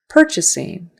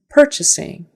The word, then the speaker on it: purchasing: syllable the second syllable purchasing purchasing notice that you are in the first syllable is going to sound like an ER per per purchasing purchasing and syllable stresses